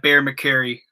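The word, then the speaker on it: Bear McCreary: That Bear McCary.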